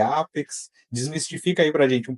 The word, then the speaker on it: APEX: Mas é Apex, é Apex. Desmistifica aí pra gente um pouco, Paulo. olha, eles optaram pela pronúncia em inglês.